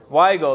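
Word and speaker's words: Weigle: where we go why go how do you pronounce that word why go there you go music director to help me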